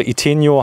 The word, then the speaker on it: Itineo: Jetzt kann ich sogar schon die Aussprache. Iteneo habe ich am Anfang gesagt, aber es heißt wirklich Iteneo. Iteneo ist richtig, genau. Und das sagen die Franzosen auch so?